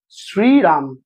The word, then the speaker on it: শ্রীরাম: না, তালবস শয়রফলা দীর্ঘই শ্রীরাম, এরা শ্রীরাম উচ্চারণ করতে পারে, এরা দেখবেন শ্রীরাম বলে। আর রক্ত পরীক্ষার সময় যে সিরাম হয় SERUM সেটা আলাদা, সেটা রক্ত রস।